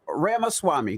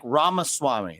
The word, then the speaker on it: Ramaswamy: in the building Vivek Rama Swami did I say it right that's actually pretty good it's better than most yeah it's like Rama Swami like CD-ROM but yeah what I